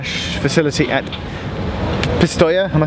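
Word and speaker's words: Pistoia: We've come to the Hitachi factory / facility at Postoia.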